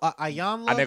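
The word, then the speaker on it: Iyanla: Oh, Ayanla. Ayanla.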